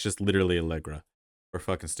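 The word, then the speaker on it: Allegra: to go featuring snow do you want to pronounce the last name uh snow alra sure algra we're stupid it's algra I don't know why I don't know I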